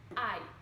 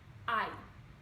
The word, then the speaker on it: I: Eu fica I. I. Ok? Tipo, ai, que dor. Tá bom? É exatamente o mesmo I.